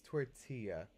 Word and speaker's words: tortilla: so it's a Spanish word so you don't pronounce that it tells it's gonna be tortilla with like a why sort it's it's tortilla it's a Spanish word so it's a little